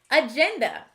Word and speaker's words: agenda: Starting with the first syllable, we have a, then gen, duh. What is the complete word? Agenda.